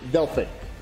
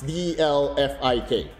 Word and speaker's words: DelphyQ: It's basically Delphyq. It's if you want to spell it like how it's pronounced, it's Delphyk.